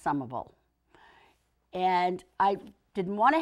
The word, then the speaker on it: Somerville: other City other than Somerville and yes it's pronounced sumable and I didn't want to have to go